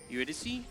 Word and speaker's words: Eurydice: Eurydice? That's how you pronounce it, isn't it? Yeah.